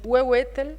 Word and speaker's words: huehuetl: El anterior es difícil de pronunciar esto. El huehuetl, no sé ni cómo se pronuncia esto.